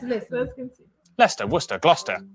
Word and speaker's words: Gloucester: Leicester, Worcester, Gloucester.